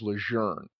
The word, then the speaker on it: Lejeune: So apparently, the correct pronunciation is Lejeune.